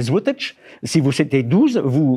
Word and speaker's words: złotych: Vous pouvez marquer si c'est 12 zloty, ce qui se prononce en polonais złotych.